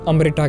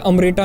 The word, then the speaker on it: अमृत: भी सिर्फ एक बोतल अमृता के लिए जो ह्यूमन बीइंग्स की एजिंग को रोक और ये अंग्रेज हमेशा से हिंदी शब्द को गंदे तरीके से प्रोनाउंस करते हैं ये अमृता नहीं बल्कि अमृत है और इसी अमृत को